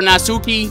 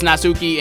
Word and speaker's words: Natsuki: said your name wrong i thought you were nazuki but i guess this is natsuki and this is who